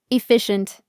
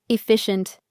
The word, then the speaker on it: efficient: Pro tip: if you want to sound like a native speaker, you need to use it like a quiet shh sound. Look at the star here. Let's practice together. Efficient. One more time. Efficient.